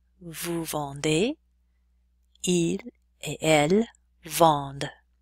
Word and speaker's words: vendent: Nous vendons, vous vendez, il et elle vendent. That ENT ending is silent.